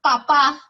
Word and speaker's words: papá: la diferencia la tilde papá no le puedo poner tilde porque tienes grave lleva el acento en la penúltima sílaba y no le pongo triste porque termina en vocal eneko es porque estoy hablando de la papa del campo pero si yo que les digo papá lleva tilde al final porque lleva el acento en la última sílaba y terminan n s vocal y en la diferencia